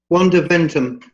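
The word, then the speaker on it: Wanda Ventham: got to hang out with what's her name, Vonda Venham. How's it pronounced? Wanda Ventum.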